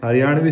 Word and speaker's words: हरियाणवी: हरियाणवी सिखाऊंगा इस पे भाई आज That's the name of the language.